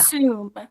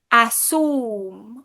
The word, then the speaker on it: assume: with the word assume, Yeah. assume. Sometimes people say assume, Uh-huh. ooh, ooh, Uh-huh. because maybe they don't have a ooh, ooh Yeah. sound.